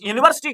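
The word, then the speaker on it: university: पे क्या है इस यूनिवर्सिटी को कैसे लिखेंगे हम उर्दू में लिखेंगे तो ये यूनिवर्सिटी ये ये से स्टार्ट हुआ अलिफ और आइन से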